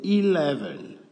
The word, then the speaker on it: eleven: à 11 11 c'est eleven eleven donc le E se prononce i 11 le 12 vous